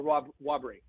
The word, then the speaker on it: Whobrey: That's how you say it, right? Whobrey or Whobrey? We actually say it Whobrey. Whobrey.